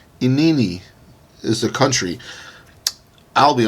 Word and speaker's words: Inini: Well, anyway, I looked up how to pronounce this. They had like a weird kind of way they said it. It was like, Inini. Okay, whatever. Inini.